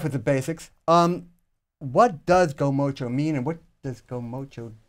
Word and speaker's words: Gomocha: Can you pronounce the name of this business? It's Gomocha. Gomocha.